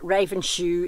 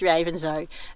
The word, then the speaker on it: Ravenshoe: I asked them, how do you pronounce this town, and they say it's Ravenshoe. So it's not Ravenshoe, it's Ravenshoe.